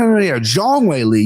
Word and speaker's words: Zhang Weili: I would have mispronounced that name regardless. But I miss Kenny trying to save me. Like, no, Zhang Weili.